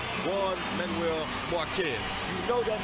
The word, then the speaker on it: Juan: you hear the name ju Manuel Marquez you know that means trouble as soon as the JP comes out although it's pronounced with a W as in one you know when you